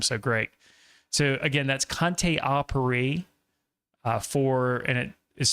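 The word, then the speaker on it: Conté à Paris: So again, that's Conte Apiri for and it is spelled Conte a Paris.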